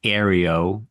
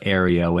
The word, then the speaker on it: Ario: And just as a quick correction, Bruce was adamant about his name being pronounced Ario as an A-I-R, as if it's air, Ario.